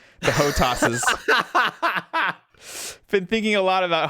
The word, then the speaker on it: HOTAS: Probably an Xbox controller because I don't have a HOTAS, I believe it's called.